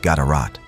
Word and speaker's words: GDRT: One notable example comes from King Gdrt, possibly pronounced Gadarat, who appears in inscriptions in Yemen, demonstrating Aksum's reach into the affairs of the Arabian Peninsula.